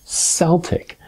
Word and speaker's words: Celtic: this yourself and if you do the proper pronunciation is Celtic knot celtic it's not a soft see it's a hard